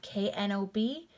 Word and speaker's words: knob: Silent K, here we have K-N-O-B, that's going to be pronounced with just the N sound.